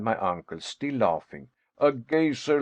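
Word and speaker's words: Geysir: the waters the gazer a word the icelanders pronounce gazer and which signifies Fury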